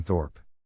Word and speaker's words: Thorp: say this please how how do I pronounce this computer can you please tell me Addison Thorp Thorp okay thank you computer